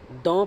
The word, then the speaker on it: the: तो very important, द is pronounced as both द एंड दी।